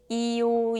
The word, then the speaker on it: ㅛ: let's move on to is basically a combination of e so instead of thinking of it as a completely new sound just connect those two sounds quickly and smoothly 이요 이요요요요요요요요요요 요요 Let's practice